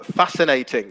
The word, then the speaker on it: fascinating: um we've got um fascinating yeah that's a brilliant example silent c and fascinating um follow yeah follow